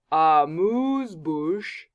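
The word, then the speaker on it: amuse-bouche: pronounce that word because it's actually French so Moo's bouche it's French and it's a noun so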